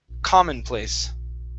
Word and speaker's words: commonplace: artificial okay very nice this word here is pronounced commonplace the stress is at the very beginning commonplace commonplace okay very good